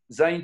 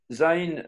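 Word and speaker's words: זין: épée ou un poignard zain se prononce entre les dents zain c'est aussi le crochet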